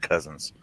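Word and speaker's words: Cosens: who's yeah c-o-s-e-n-s it's spelled cozens but it's pronounced cousins yeah and this is the guy that was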